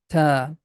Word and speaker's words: ت: Tip of tongue is touching with the root of frontal teeth. Ta. This letter does not have any equivalent sound in English. Like in English, we have T sound, but it's not like that.